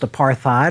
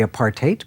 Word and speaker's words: apartheid: heard it many times often pronounced apartheid or what-have-you technically apart eight but in any case